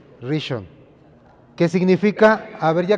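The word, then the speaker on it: ראשון: Es que tiene como dos acentos, no sé cómo, pero Rishon.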